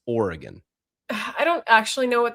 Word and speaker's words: Oregon: It's Oregon. I don't actually know what the correct pronunciation of Colorado is, but given that I'm